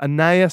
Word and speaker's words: Anais: It's spelt the same, but it's pronounced differently. But it's. Oh, go on. No, it's Anais, but it's just like the most.